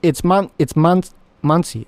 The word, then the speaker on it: Mansi: You're pronouncing my name correctly. You're basically Indian. Oh, so it's Mansi.